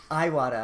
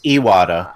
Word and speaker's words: Iwata: he water not now Iwata I thought right isn't that the correct pronunciation it is a water because this cuz cuz